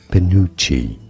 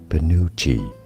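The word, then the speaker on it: penuche: do you say it pinucci stress on the second syllable both pish and American pronunciations are similar here as pinucci pinucci PCI PCI I love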